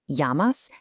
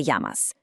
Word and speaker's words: llamas: That double L in llamas actually creates a Y sound. ¿Cómo te llamas? Give it a try. ¿Cómo te llamas?